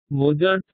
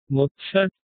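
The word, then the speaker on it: Mozart: আমি এসব সুরকারদের রচনা শুনিনি বটে, কিন্তু এদের নামের উচ্চারণগুলো অন্তত আমার জানা আছে, কিন্তু আপনার নেই। কি রকম? হাইড্রন, মোৎসার্ট, বেটাফেন, এই হলো আসল উচ্চারণ।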